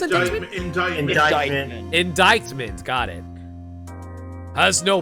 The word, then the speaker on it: indictment: Wright, if you cannot prove who the owner of that cell phone is, your indictment, is it pronounced indictment?